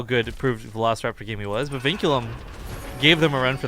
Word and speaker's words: Vinculum: versus vinculum all right vinculum by the way very annoyingly difficult team name to pronounce cuz I want to just call it vulume okay okay well